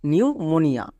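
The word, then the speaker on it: pneumonia: জায়গায় আর হয় না যেমন দেখো সাইকোলজি আর নিউমোনিয়া এখানে পি এর পরে এস আছে এবং পি এর পরে এন আছে তাই পি সাইলেন্ট যেমন সাইকো লজি নেক্সট নিউমোনিয়া এবার আমরা দেখে নেব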